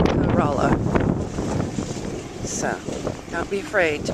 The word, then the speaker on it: Corolla: No, it's actually pronounced Corolla. So, don't be afraid to pronounce it the correct way. It's not Corolla.